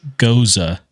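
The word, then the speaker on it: Gose: So I just handed Alfredo a blood orange goza, is how you pronounce it.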